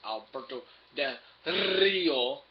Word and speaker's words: Alberto Del Rio: Next would be your world title match: Dolph Ziggler versus Alberto Del Rio. You gotta roll your R's to be able to do it.